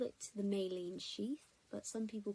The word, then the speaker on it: myelin: pencil grips, those are I call it the myelin sheath, but some people call it myelin. It's spelled M-Y-E-L-I-N, so whichever way you want to pronounce it, but it's the myelin sheath.